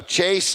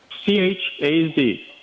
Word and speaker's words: Chaz: All right, so Chase, what is the name again? How do you spell your name? C-H-A-Z. A-Z, okay. Huh? Z, Chaz. Yeah, I said it wrong.